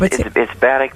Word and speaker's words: Batiuk: This is Tom Batiuk. Am I pronouncing it right? Yeah, it's Batiuk, but I go by a lot.